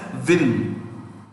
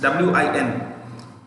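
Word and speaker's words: Nguyen: u y e n we write this as n g u y e n but pronounced as vin i read it you know it's w-i-n when you pronounce when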